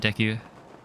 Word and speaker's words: Deku: I used to say DQ. But then Deku, like that's how you would say it. Like in My Hero Academia, you got Deku. It's the pronunciation you'd use for Japanese.